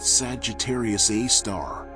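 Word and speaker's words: Sagittarius A*: There in a region called Sagittarius A asterisk, pronounced Sagittarius A star lurks a super massive black hole weighing as much as 4 million of our suns.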